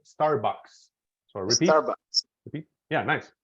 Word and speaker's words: Starbucks: that better that's better so this is pronounced Starbucks no book or anything Starbucks so repeat Starbucks yeah